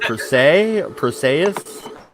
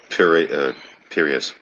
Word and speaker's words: Piraeus: I can't pronounce that word. Perseus? Here. It's Piraeus. It's in Athens.